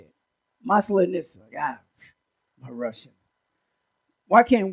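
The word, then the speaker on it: Масленица: Also, I would like to say Happy Mal- Malinitsa pancake. How do you say it? How do you say it? How do you say it? Maslenitsa.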